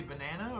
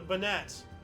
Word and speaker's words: Banat: Supposed to say banana or? No, Banat.